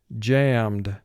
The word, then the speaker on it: jammed: the video screen jammed now we know it's a one syllable word because we only have one vowel sound represented by the a e d does not break off and create a second syllable because it's not preceded